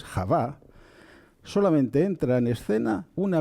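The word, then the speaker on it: חוה: Digo la mujer, no digo Eva, porque Eva, el nombre Eva, el personaje bíblico que conocemos como Eva, en hebreo es Javá, solamente entra en escena una vez que se ha producido la expulsión del Gan Eden, del jardín del Edén.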